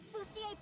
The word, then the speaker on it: Bustier: But this example is just a case of English speakers sometimes getting tripped up by French spellings. Miss Busier, please.